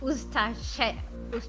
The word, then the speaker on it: Ustaše: A committed Ustashi, I believe it's pronounced, Ustashi member. I know, it's pronounced Ustaše.